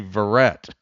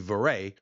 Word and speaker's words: Verret: Yeah, 2 T's in French in general. 2 T's, it's a hard T. If it's 1 T, it's pronounced as A. So if it were Verret, it'd be Verret. With the 2 T's, it's Verret.